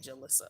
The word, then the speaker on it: Jalisa: I just love it rhymes with Melissa okay jalisa okay yes Rosa thank you